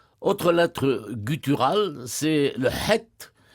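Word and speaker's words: חית: Autre lettre gutturale, c'est le het, que les Israéliens prononcent aujourd'hui chet, Oui. comme la jota Oui. espagnole, et c'est une lettre initiatique par excellence.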